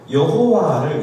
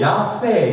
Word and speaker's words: 야훼: 그게 왜 그러냐면 옛날에는 그 그냥 여호와의 여, 히읗, 아 이 자음만 있었는데 그 밑에 모음이 뭔지 몰라가지고 학자들이 아 이거 아마 여였을 거야, 호였을 거야 이렇게 해가지고 여호와로 불러서 썼는데 최근에 학자들이 연구해보고는 그것이 부정확했다는 것을 밝혀낸 거예요. 그래서 좀 더 원래 발음에 가까운 게 야훼다 해서 최근에 바뀐 겁니다.